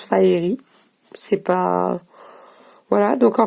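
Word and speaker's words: Faerie: Parce que ça se prononce Faeri.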